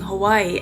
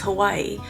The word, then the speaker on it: Hawaii: I grew up pronouncing Hawaii as Hawaii, but locals would say more like Hawaii. So the W sounds more like a V.